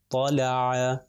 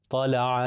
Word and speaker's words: طلع: فتحہ ل، اور عین کے اوپر فتحہ ع، طلع، طلع۔ دیکھیے میں کسی جگہ پر کھینچ نہیں رہا،